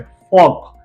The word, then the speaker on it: folk: फॉक, FOLK। अब ध्यान से देखिए, दोनों स्पेलिंग में ओ के पीछे एल दिया गया है, ल का प्रोनाउंसिएशन हमने नहीं किया। York and फॉक।